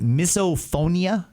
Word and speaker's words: misophonia: Was it misoponia?